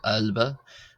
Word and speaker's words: ⲁⲗⲫⲁ: So first of all we have albba which is like the a in the English word father something similar to that h.